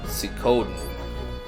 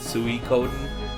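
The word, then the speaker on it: Suikoden: all deserve to have see codeine or some people pronounce it sui Coden by Konami we all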